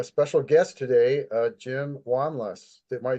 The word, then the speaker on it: Wanlass: have a a special guest today uh Jim wanas am I saying your name right Jim I